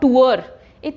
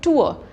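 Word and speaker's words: tour: तो नहीं बोलते तो र जब भी फाइनल प्लेस पे है एंड पे है उसको आप कभी भी स्ट्रेस नहीं करोगे ब्रिटिश इंग्लिश में तो इसीलिए द वर्ड इज नॉट टुअर्ट टुआ आपने ऐसे बोलना है टुआ र पे स्ट्रेस नहीं देना टुआ टुअप होता है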